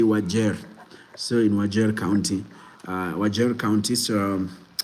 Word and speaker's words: Wajir: It's pronounced as Wajir, not Wajir. The way people say in Somali you say Wajir.